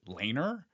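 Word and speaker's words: Laenor: But one of the producers of the show, he pronounced it Laner. And I don't know if that's accurate. I'm going to be watching it. But in one of the interviews, he said Laner, which doesn't totally line up with the spelling, but I just find very funny. That's like how you say it in the deep south, Laner.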